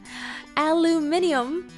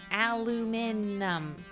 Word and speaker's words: aluminum: was my australian friend if you sound out each syllable there's no either there's no second eye aluminum that's the syllables of course she's